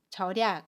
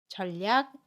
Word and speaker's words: 절약: 단어들이 있는데요 하나씩 볼게요 전략은 절약 이라고 발음 해요 전략 이라고 발음하지 않습니다 월요일은 월요일 이라고 발음의